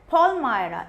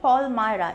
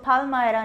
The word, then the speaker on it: Palmyra: So he has that, then he has a notebook, he has a bundle of Palmyra. इसको pronounce आप करोगे Palmyra, इसको Palmyra नहीं बोलते, इसको Palmyra बोलते हैं।